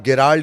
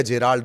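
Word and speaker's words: Gerald: तीसरा, जिसे आप गेराल्ड या जेराल्ड, दो नाम कहते हैं, ये प्रोनाउंसिएशन का मामला है। उसकी स्पेलिंग दरअसल GE से शुरू होती है, तो कोई गेराल्ड बोलता है, कोई जेराल्ड बोलता है।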